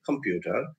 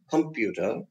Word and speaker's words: computer: syllables come few now when you say he bought a computer you you know that he is putting the stress on the on the second sound on the second syllable few so computer now over there that the few gets accented computer then the second